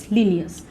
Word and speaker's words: Linnaeus: Students, बहुत बहुत बहुत important direct question, Carolus लीनियस। Spelling ध्यान रखिएगा, LINNAEUS, लीनियस।